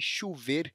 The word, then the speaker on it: chover: Por exemplo, você já ouviu alguém dizer que vai "chuver"? Esta é uma pronúncia possível no Brasil, isso pode nos fazer achar que o verbo "chover" é escrito com "u", o que não é verdade.